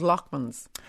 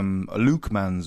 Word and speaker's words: Lukeman: Yeah, called Lockmans. Lockmans, yeah. Lukeman's we pronounce it. I have no. I don't know. I mean, accents changed within 3 miles, and somehow Lockman became Lukeman. So I changed the spelling